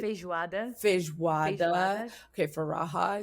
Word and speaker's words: feijoada: Feijoada.